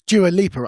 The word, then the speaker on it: Dua Lipa: I would never look at another woman, but I I it was Dua Leaper. I'm pronouncing that right?